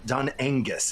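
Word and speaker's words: Dún Aonghasa: I went to the this cliff fort, Dun Angus, and that's an anglicized pronunciation, but something around Dun Angus, and it's this cliff top fort.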